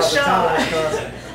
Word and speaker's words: pshaw: So how do you say pshaw? Oh, pshaw. Just, you know, pshaw. I mean, the P is silent, but. I may so say oh, pshaw.